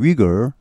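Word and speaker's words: Uyghur: 소위 그 멋을 엄수 위구르 영어 발음은 위그 입니다 위구르 회교 또 들어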